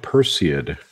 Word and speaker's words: Perseid: I forgot to tell you rose because it's pronounced Perseid person hashtag office ayat you called it her